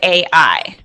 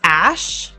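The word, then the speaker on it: Æ: it's pronounced x um a e is his spelling of a i so a lot of people thought it was ash but it's actually a.i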